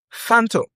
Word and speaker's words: phantom: phantom Don't forget I said the ph here is pronounced as f That's why you say phone.